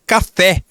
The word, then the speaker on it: café: Voltando aqui, pessoal, percebam que na palavra café, a última sílaba é a tônica. Nós não dizemos café, nós dizemos café. Então, a última sílaba é a que é a mais forte. Quando a última sílaba for mais forte, nós dizemos que essa palavra é oxítona.